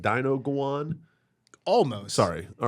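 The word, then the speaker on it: dinuguan: say that word again yeah is this it's pronounced like Dino go on almost sorry all right it is a pork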